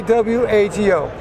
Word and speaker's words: WAGO: Say W-A-G-O.